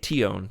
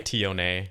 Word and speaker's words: Tion: I say Tion, 2 syllables. Yeah, I bet you say put the same, some exotic actually. twist on it, don't you? She might say Tione. Who knows?